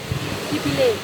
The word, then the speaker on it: Phi Phi Leh: Chúng tôi đang đi dã ngoại trên các bãi biển của Phi Phi Lee. Nó được phát âm là Phi Phi Lee hay Phi Phi Lay? Phi Phi Leh.